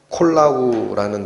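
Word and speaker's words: κολλάω: 그래서 여기 이 단어가 발음 나는 대로 읽어드리면 콜라우라는 단어입니다.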